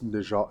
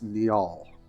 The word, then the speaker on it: Niall: Yes, I said his name wrong. I thought it was Nijal. It's Niall, because of course they're like kind of from like Norse, like folklore and naming and stuff like that.